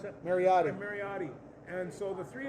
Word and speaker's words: Mariota: How do you pronounce that? Mariotti.